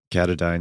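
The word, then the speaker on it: Katadyn: Is that how you pronounce it? Catadyne? Catadyne, yeah.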